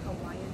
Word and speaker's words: Hawaii: That's how they say it, Hawaiian people, Hawaii.